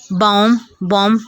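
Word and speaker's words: bomb: किसी लफ्ज़ में M के बाद जब B आए, बॉम, कॉम, डॉम, यहाँ पर M के बाद B आ रहा है वो साइलेंट है, हम B को प्रोनाउंस नहीं करेंगे। कॉम पढ़ेंगे, कॉम, B नहीं यहाँ पर पढ़ेंगे। बॉम, यहाँ पर भी हम B प्रोनाउंस नहीं करेंगे, BOM सिर्फ प्रोनाउंस करेंगे।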